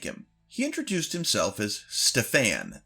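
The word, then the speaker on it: Stefan: He introduced himself as Stfan. That's s T E F A N emphasis on the second syllable.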